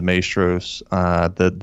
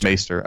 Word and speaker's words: maester: Great scene here because we get another scene of the Maestros, the head guy saying no to the concoction that the other Maestro, is that how you say it? Maester. Okay. Maester.